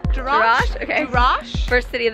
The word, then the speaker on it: Jerash: I said trash. No. Jerash.